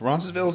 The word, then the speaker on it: Roncesvalles: Roncesvalles, is that how you pronounce it?